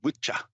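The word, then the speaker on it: Wicca: c c a yeah really the pronunciation of that should be Witcher yeah ah see and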